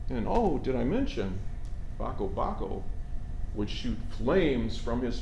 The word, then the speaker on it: Bako Bako: Well, you have to pronounce it like this, Bako Bako.